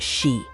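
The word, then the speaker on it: 四: Four is pronounced she, perfectly mimicking the word for death.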